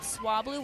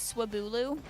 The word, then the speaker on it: Swablu: have since corrected is when I was a kid I thought swablu was suu don't ask me why I